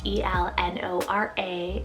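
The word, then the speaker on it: Elnora: from the ancient city we have el nora e-l-n-o-r-a el nora this one's german in english meaning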